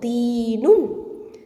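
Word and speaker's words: تِينٌ: Okay, தீன் அப்படிங்கிறது த கெசரா யா சுக்கூன் தீ, 2 ஹரக்கத்தை நீட்டி உச்சரிக்கணும், ஏன்னா யாவுல் மத்து அங்கே இருக்குது, தீ. அடுத்தது நூனில் தொம்மத்தைன் இருக்குது, அப்போது தீனுன், தீனுன்.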